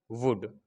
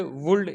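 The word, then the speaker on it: would: एल आ गया है तो एल क्या होगा, साइलेंट हो जाएगा। इसको हम ऐसे पढ़ेंगे, शुड, कुड, वुड। इसको शुल्ड, कुल्ड, वुल्ड ये नहीं पढ़ेंगे।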